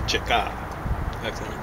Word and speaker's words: Cheka: Incidentally, the correct way to pronounce that roughly is Cheka.